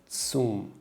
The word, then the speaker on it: zum: This looks like Z, but it's pronounced as Zoom. Supermarket is called Supermarkt. So how do we say this sentence? Tom geht zum Supermarkt.